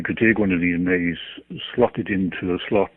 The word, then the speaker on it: Me: And the hard drives of these computers are something called a May. It's spelt M-E, but pronounced May, as in the month of May.